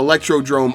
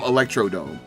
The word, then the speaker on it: Electrodrome: history like sherbet land electrodrome is home where everyone forgets your name i swear people intentionally choose to call electrodrome electrodome i mean electrodome does sound cooler you don't know how